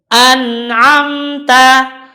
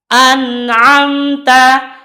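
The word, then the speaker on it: أنعمت: dibaca tawar Awas uteri maka bunyinya yang benar adalah an'amta an'amta an'amta dan kesalahan lagi di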